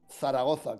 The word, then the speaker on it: Zaragoza: No, Zaragoza, con 2 Zetas.